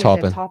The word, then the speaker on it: Taupin: Taupin. Toppin?